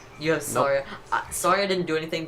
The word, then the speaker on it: Saria: Who the hell is Sarah? Saria!